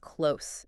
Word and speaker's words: close: When close means to shut, it's a verb and you hear that Z sound at the end. Close like in nose.